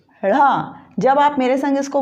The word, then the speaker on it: ढ़: इसमें जीभ को तालु की ओर मोड़कर बोला जाता है। इनका उच्चारण जीभ को तालु की ओर ऊपर मोड़कर फिर बोला जाता है, जैसे ड़ा, ढ़।